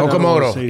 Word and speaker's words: Okamoto: Okamoto, yep, that's right.